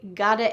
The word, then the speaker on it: gotta: This reduced word gotta, pronounced God with a D, even though there's a T, is really I have got to admit.